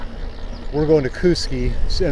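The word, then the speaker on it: Kooskia: showing distances to places like we're going to Kuski and it's pronounced Kuski.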